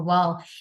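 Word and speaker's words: و: We just make our lips round. Both our lips are going to be round or they are going to be in oval shape. So this is how we are going to pronounce wow.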